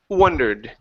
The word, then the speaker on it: wondered: of a under okay give me an oo sound at the beginning W wondered wondered okay very good so